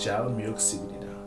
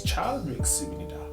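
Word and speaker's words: 잘 먹겠습니다: So, there's a Korean version of saying that, which is jal myuk sibnida, or it's chal myuk sibnida. Like, I don't, my pronunciation is not perfect because obviously I'm South African and I'm Zulu and all of that nonsense.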